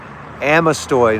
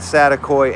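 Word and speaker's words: Amestoy: Amostoy, not Satakoy.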